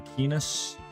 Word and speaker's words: Keenus: You can dig the name Keenus. Even though it rhymes with penis, and that's all I'm thinking right now.